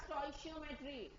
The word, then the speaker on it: stoichiometry: So this is pronounced as stoichiometry.